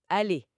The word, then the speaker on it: allé: Oui, aller, mais à l'oral, on entend pas la différence. Ça se prononce aller dans les deux cas.